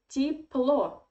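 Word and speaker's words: тепло: it is russian adverb here again we have a very interesting russian phonetic um thing because this year in the first syllable we pronounce like e and the story is quite similar when ye is in unstressed weak position you pronounce it like i hope that you understand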